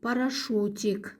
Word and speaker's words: парашют: орман параш произнеси правильно Парак вместо ю произносим звук у парашу упражнение номер 4ре Рассмотрите